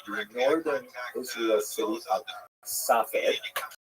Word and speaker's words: Safed: And that is the incredible explosion of spiritual, literary, religious activity that occurred in the northern Israel city of Safed, pronounced in Hebrew Tzfat or Tzfats.